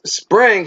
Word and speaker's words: Xpring: of using a fundraising X spring pronounced spring so now we all know it's spring with spring ripple with